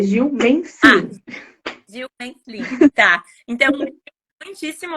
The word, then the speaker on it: Gil Menslin: Gil Meslin é a pronúncia certa? É o S, é som mudo, é Gil Meslin.